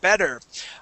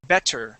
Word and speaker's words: better: Uh now listen uh I don't sound I don't pronounce that word better with a t sound. I do not say better. I say bed with a d sound.